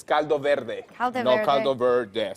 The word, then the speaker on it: caldo verde: I just pronounced it the American way. It's Caldo Verde.